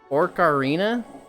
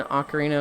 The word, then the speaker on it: ocarina: Like saying ocarina of time. Like Orcarina of time until someone corrects you.